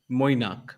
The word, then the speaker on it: Moinak: It's actually how it's said like Moinak, but it's very difficult.